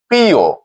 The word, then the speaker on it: প্রিয়: অর্থাৎ নিয়ম অনুযায়ী উচ্চারণটি হবে পিও। পিয় অকারটি ও রূপে উচ্চারিত হবে।